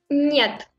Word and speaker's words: нет: Нет.